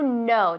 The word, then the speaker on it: know: Tiene una K, pero no se pronuncia, es silenta. Silenta decimos. Silenciosa. Silenciosa, pues no sabía. Silenciosa. To know decimos.